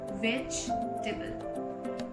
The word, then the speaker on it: vegetable: It's called vegetable. Basically, the E after the VEG is silent, so we don't pronounce it at all. We call it as vegetable.